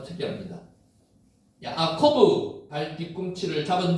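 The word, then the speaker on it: יעקב: 야곱 실제로 야코포라고 있습니다. 야코브 이렇게 발음이 됩니다.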